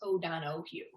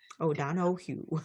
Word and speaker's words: O'Donohoue: donahue has no ace in it so it's oh don oh hugh oh don oh hugh h-u-e yeah you pronounced it perfectly but the spelling is that